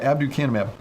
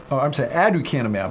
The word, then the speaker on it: aducanumab: the bottom line of aducanumab. I was saying it wrong the whole time. I was putting a B in there.